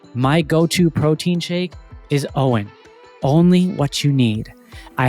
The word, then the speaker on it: OWYN: That's why my go-to protein shake is Owen.